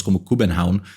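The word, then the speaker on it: København: In the word Copenhagen itself, written and pronounced roughly as Kuh-ben-haun, the "havn" means harbor, and "køben" was merchant, so "merchant harbor".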